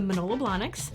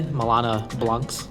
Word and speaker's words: Manolo Blahnik: How do you pronounce it again? Manolo Blahnik. What did I say? Milana Blancs.